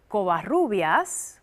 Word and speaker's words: Covarrubias: about it is Jessica Covarrubias, one of the spokespeople for the project. Did I pronounce that right? You got it totally right. All right. I double rolled the R there.